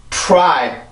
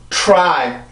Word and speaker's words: try: T 발음을 길어질 이유가 전혀 없죠, 여기서는. 그래서 필요 없이 T 발음은 아주 짧게 해주고 나서 발로 R 발음을 신경을 쓰면 돼요. 자, 해볼게요. try 한 번 더 try 자, 그러면 지금 제가 이걸 한국어로 한번 써볼게요.